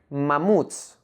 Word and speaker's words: mamuts: Like in the word mamuts, made up of two syllables, ma and muts. The last syllable, muts, is the stressed syllable.